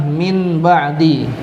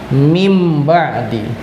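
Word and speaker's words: مِن بَعْدِ: Ya, tulisannya adalah min ba'di, tapi dibacanya berubah menjadi mim ba'di.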